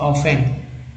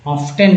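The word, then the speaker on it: often: Consumption of steel is ऑफन, टी का जो है साइलेंट कर दिया गया, ऑफन पढ़ते हैं, ऑफ्टन नहीं, लोग ऑफ्टन पढ़ते हैं इसे, regarded as the index of a countries development.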